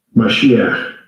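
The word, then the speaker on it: מָשִׁיחַ: 자, 발음을 들어보시죠. 마시아. 마시아. 짐작하시겠죠? 예, 히브리어로 메시아, 영어로 메사이아. 예.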